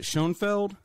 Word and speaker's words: Shoenfeld: Is it Shoenfeld?